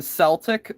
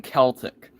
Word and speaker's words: Celtic: in 1901 as well, was it pronounced the American way, as in Celtic, or the British way, as in Celtic?